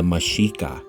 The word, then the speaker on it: Mexica: Before the people of Misraim were rebranded as Aztecs, they were known as the Mexica. The X is pronounced she.